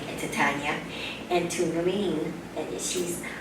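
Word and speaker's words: Lien: And I also want to say a thank you to Sydney and to Tanya and to Lean. And Lean's name is spelled L-I-E-N, and her sister's name is Lang.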